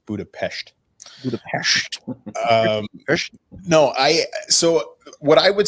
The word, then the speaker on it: Budapest: First and foremost, it's pronounced Budapest.